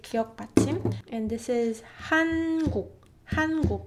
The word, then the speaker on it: 한국: This one is easy because in English language as well, you don't extend N sound either. Like for example, when you're pronouncing, you know, this word, it's hen, right? Hen. It's not hen, right? It's hen. And that's the same with 니은 Batchim.